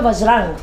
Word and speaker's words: वज्रांग: जबकि बजरंग शब्द जो है असल में वो है वज्रांग।